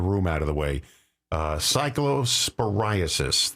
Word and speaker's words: Cyclosporiasis: Cyclosporiasis, that's how you pronounce it.